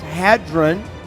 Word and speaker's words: Hadron: concerned cer and the Hadron I think it's pronounced Hadron Collider okay it's turned on two days from